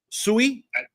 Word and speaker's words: Sui: of the people sayu I think it's technically swe which by the way fun you guys are both saying it wrong by the way SOI I don't know it's it's Japanese it's Japanese it's the Japanese word for water by the way fun